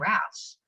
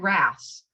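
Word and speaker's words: Raths: win the primary, and his name is Greg Rass. Who? Greg Rass. Can you spell it? It's R-A-T-H-S. Greg Rass.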